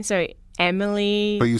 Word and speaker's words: Emilie: can find me so it's my name so Emily but you spell it for me yeah okay so it's em